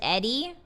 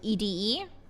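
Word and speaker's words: ED-E: Things are tense on the strip right Is it Edie or Edie? I've always pronounced it Edie. But there are people that pronounce it Eddie. There are people that pronounce it EDE. Personally, I like Edie.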